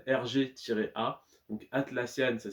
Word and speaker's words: Atlassian: On attaque le top 3 avec l'action Atlassian RG-A. Donc Atlassian, ça s'écrit comme ça se prononce, pardon, A-T-L-A-2-S-I-A-N, plus loin RG-A.